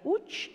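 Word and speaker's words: Łódź: Entonces queda una parte muy pequeñita, Varsovia sigue siendo la capital, integrado queda Cracovia, está escrito Lodz, pero se pronuncia Uch en polaco, y Lublin.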